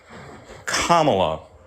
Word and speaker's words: Kamala: which is so easy just say Comma just say it Kamala thank you go ahead